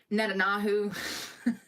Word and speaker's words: Netanyahu: There's a lot going on politically, and I've been looking into Benjamin Netanyahu.